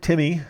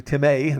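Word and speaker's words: τιμή: Software shows the underlying Greek word Timmy actually timay the accent is on on the in there and we see that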